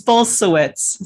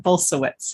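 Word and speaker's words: Bulsiewicz: to butcher that word yeah it's bolsuits so it's a it's a Polish name similar to my name but bolsawitz yeah and both Rooks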